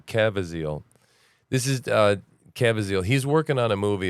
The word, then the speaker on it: Caviezel: Help me with his pronunciation. Caviezel. This is Caviezel.